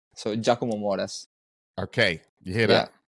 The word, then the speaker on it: Moras: So yeah, the correct pronunciation is Giacomo, Giacomo. but the surname was right. So Giacomo Moras.